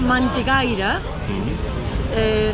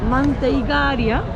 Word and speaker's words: Manteigaria: Aquí justo en el mercado de Time Out tenéis un sitio que se llama Mantecaira. No, perdón. Manteiga... Madre mía, no quiero pronunciar. Manteigaria.